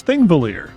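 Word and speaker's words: Þingvellir: Nope, this one I can pronounce. It's Thingvellir.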